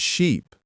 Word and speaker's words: sheep: For confusing ship and sheep, Ship has a short I sound, like in sit. Sheep has a long E sound, like in see.